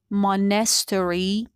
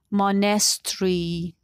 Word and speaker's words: monastery: So in American English, this word is pronounced monastery. In British accent, monastery.